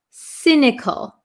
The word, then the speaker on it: cynical: um cynical cynical um it has a c y s this is not a hard C but a soft C it sounds like an S cynical cynical so if somebody